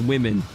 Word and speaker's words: women: about the fact that it's pronounced women you think it pronounced woman cuz you know woman man but no it's women it doesn't make sense to me why why is the O now an i sound we need to become